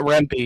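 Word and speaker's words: Rempe: Rempy. Is that the correct pronunciation? If not, yeah, Matt Rempy."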